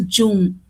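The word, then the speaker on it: jhum: That is their term is Jum. I don't know whether I'm pronouncing it properly, correctly or not, but then It's correct, ma'am.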